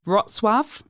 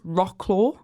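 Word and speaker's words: Wrocław: but I'd say like krov roswave which is the one that's spelled like it's rock claw gank another one like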